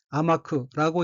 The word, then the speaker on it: 甘く: 한국어로 달, 감자가 들어있고 일본어로는 아마크라고 읽으며 달다, 미지근하다, 무르다 등의 뜻인 형용사 아마이의 쿠형입니다.